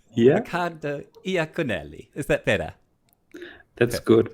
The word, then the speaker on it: Riccardo Iaconelli: Yeah, Riccardo Iaconelli.